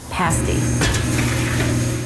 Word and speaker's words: pasty: a lot of pasty education to do especially pronouncing it pasty the business ran smoothly until a fire in the building that shut down the business for nine months in 2016.